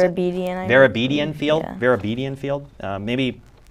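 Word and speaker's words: Vartabedian: playing field, Verabedian Field, is that how you pronounce it? Verabedian Field, yeah.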